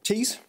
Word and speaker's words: Tees: About 70 miles long, which river of northern England has a name that rhymes with words meaning a band of painted decoration or sculpture, an involuntary action known as sternutation? Newcastle Noble. Tees.